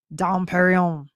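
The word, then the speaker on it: Dom Pérignon: I love that next question the Benedictine monk Dom Perignon you got to say it like that Dom Perignon spent a lot of time trying to remove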